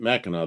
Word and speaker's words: Mackinac: That's right, Mackinac. That's how it's pronounced.